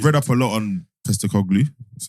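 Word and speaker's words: Postecoglou: I've read up a lot on Postacoglu.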